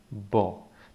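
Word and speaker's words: בוא: The last letter is silent, that's the aleph. And in the middle we have a vowel O. So the sound, the pronunciation of this would be bo.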